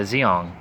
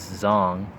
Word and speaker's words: Zeong: the zong or the zeong either the zong or a zeong depending on how you pronounce it i believe correctly it is zong from from what the dub version of the episode for the original gun